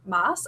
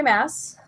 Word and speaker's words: Maas: roses yes I know I always mispronounce her name moss I just I guess I assume that the two A's are like long anyway sara jay mass Corwin's roses it's the